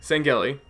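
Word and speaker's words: Sangheili: D Covenant I have problems with words sometimes sangi sangi is thaty is that how it's pronounced yes okay yeah I'm I'm actually quite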